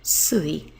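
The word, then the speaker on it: 水: part of a day of the week it's pronounced SI and you can see it over here water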